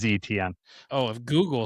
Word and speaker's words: Etienne: I have to look that up, but I did look up how Caleb wants his name pronounced, or how they have it on at least how Google search has it. It is ETN.